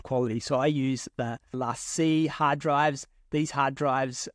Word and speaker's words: LaCie: So I definitely recommend these, and I now pronounce them LaCie, thanks to one of my YouTube subscribers who pointed out that they're not pronounced LaCie, like I say in my Australian accent, they're LaCie.